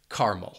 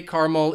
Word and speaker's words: caramel: that schwa sound, and people would just say caramel. I say caramel even though I think many other English speakers would say caramel or caramel. So now you know how to pronounce all of these different variations of caramel or caramel or caramel. You decide.